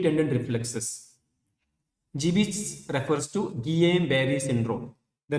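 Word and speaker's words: Guillain-Barré: reflexes GB refers to G Barry syndrome the name of the disease is G Barry syndrome you can pronounce it indianized way as Gul ber syndrome or gain ber syndrome no it is symmetrical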